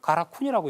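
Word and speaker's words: 韓国: 한국을 가라쿤이라고 읽고 있습니다.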